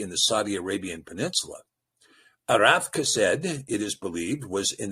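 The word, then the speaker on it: Arpachshad: Now, verse 24 here says, Arath Kased, and you might remember his pronunciation is Arpakshad, But that, again, is a Masorite construct that destroys the ability to see the fatherhood of the line.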